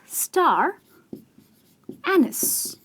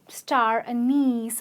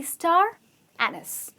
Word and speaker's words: star anise: Which is why it’s called a star not a-niece se but star-ann-iss ok so star anise is pronounced in this way not in the way one would stay star-a-niece or star-a-nice none of that is correct its actually star-ann-nis it’s a spice and